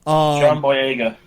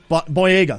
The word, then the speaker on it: John Boyega: John Boyega, I believe his name is pronounced. John Boyega. Boyega, thank you very much.